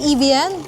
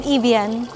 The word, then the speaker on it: Evian: Lasang Evean. Tama po ba yung pronunciation? Evian. Yung water. Evanung. Evung. Evvung pala yun.